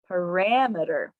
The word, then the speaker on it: parameter: sound and it gets shortened to emitter mirror parameter so practice that middle emitter emitter the third